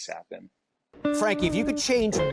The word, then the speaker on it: Capan: for them um so I've gotten Capen sapen uh I've I've gotten all the above so I usually just kind of roll with whatever but the correct pronunciation is is sapin Frankie if you could